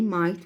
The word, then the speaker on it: might: Might at first, GH silent letters.